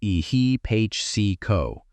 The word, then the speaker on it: ehipassiko: The poly word for what the Buddha offered instead is ehipo pronounced eh he po.